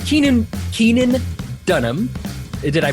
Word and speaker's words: Keenan Dunham: you've met him now uh we it's Keenan Keenan Dunham did I pronounce that correctly correct yeah all right awesome